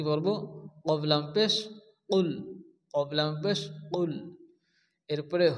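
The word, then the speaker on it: قُلْ: প্রথমত কফ লাম পেশ কুল দেওয়া আছে অনেকে আছে কাবলাম পেশ কুল বলে কাব লাম পেশ কুল উচ্চারণ করা যাবে না যদি আমরা কাবলাম পেশ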